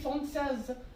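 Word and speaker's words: Françaises: So it will be Française. Pronunciation will be the same, like you won't be pronouncing this S, but while writing, it will make difference, right?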